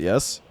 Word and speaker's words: Yi: So it is pronounced ye.